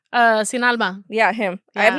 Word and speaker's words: Sin Alma: Sin Alma.